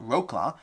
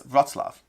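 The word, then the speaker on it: Wrocław: those who know polish that's not rla that's RAV I think I'm saying it roughly correctly but that rla is pronounced RAV okay it is it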